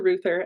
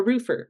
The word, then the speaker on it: Reuther: at the top, and just nailed the pronunciation of my last name. Sometimes that throws people off. They try to call me a roofer, which no, not correct.